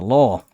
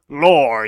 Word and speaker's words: lore: next ah the the law it is pronounced lore you crackhead well the lore of